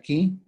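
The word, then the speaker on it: 気: Se escribe, en chino se escribe kui, se pronuncia chi, en japonés se pronuncia ki.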